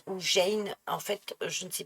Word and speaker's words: Gein: se prononce, parce que c'est un G avec un E. Or, Georges, ça se dit je. Euh, et gorge, ça se dit g.